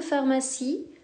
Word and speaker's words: pharmacie: citron phare ma psy attention à la fin de pharmacie il y à un e muet voilà la correction